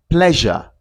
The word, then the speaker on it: pleasure: We can hear this sound at the end of the word before the last vowel in in the word pleasure. Not pleasure or play. No, it's not play. It's pleasure. Pleasure.